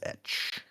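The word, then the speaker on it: Etsch: I would pronounce that as Etch.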